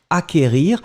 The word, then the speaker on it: acquérir: Acquérir, le CQ, en fait, vous ne prononcez pas vraiment vous n'allez pas allonger le que, vous l'avez juste prononcé acquérir.